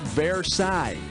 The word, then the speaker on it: Versailles: It's pronounced Versailles, and I think pear thigh is what you get when you've eaten too much French food.